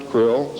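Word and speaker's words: Krlll: name in title was his omnipotent highness krill pronounced krill spelled KR LLL RC RL ll in the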